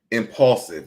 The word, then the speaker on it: Impaulsive: Impaulsive. It's called Impaulsive. And Paul is spelled Paul, like impulsive.